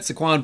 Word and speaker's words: Saquon: It's Saquon.